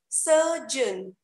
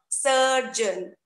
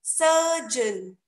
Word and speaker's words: surgeon: The right pronunciation for this word is surgeon and not surgeon. Okay, I'm repeating, it should be surgeon.